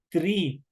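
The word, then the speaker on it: three: El 3, THRE, tri. Ojo con esta parte, que les doy una estructura, una información. Toda doble E que ustedes vean en toda palabra en inglés, esa solo el momento de pronunciar se lo hace como que ahí estuviera una letra I. Por eso yo el momento de leer el 3, yo digo tri.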